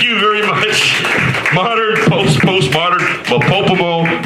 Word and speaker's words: MOPOPOMO: Modern, postmodern, MOPOPOMO, rhymes with Kokomo.